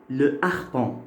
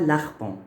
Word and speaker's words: harpon: Alors, dans harpon, le H ici, c'est un H aspiré. On dit le harpon. On ne dit pas l'arpon.